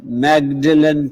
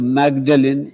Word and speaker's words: Magdalen: And the third word, instead of Magdalen, is pronounced as Magdalen.